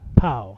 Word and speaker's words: PAO: And for those of you who we've all questioned it for years, we have been officially reprimanded and told PAO is pronounced POW.